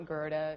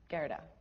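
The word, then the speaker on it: Gerda: you spell that g-e-r-d-a it's not grota it's just gyarada and american i see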